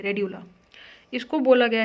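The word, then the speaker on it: radula: होता है एक स्ट्रक्चर जिसको अपन बोलते हैं रेडला आर ए डी य एल ए ध्यान से देख लेना भैया spelling R ए डी यू आर ए डी यू एल ए रेडला इसको बोला गया है फाइल लाइक रास्पर गन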